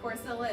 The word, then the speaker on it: Corcilla: Double L is not the Y that you know is in Hispanic language.